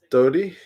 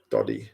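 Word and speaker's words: Doddie: There's Dodie. Doddy, sorry, pronunciation.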